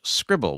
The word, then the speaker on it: Scribl: Debbie Armstrong's writing in and says, if Bookshare, NLS and public library offerings aren't enough for you, check out Scribble, which is spelled Scribl.